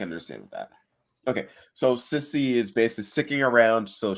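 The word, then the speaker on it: Sissi: Now, real quick, and I don't know if this will help you remember how to pronounce her name, but Sissy.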